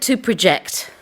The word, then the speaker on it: project: Let's have a look at to project. Yes. Uh, this is one of those where you need to listen to the pronunciation carefully because as a noun, project is different to the verb to project.